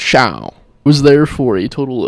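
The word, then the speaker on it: Chão: I feel like most people think it's Fogo de Chao, though. Yeah, I mean, I think that's the common, like, American Chao pronunciation. It's Chao.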